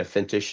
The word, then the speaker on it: Feintech: Feintech is how you say it.